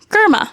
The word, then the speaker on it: Girma: Girma.